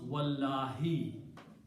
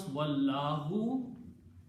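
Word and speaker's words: وَاللّٰهِ: And then when you pronounce, you will pronounce wallahi. If you pronounce wallahu, it will not be qasam anymore. It will be and Allah.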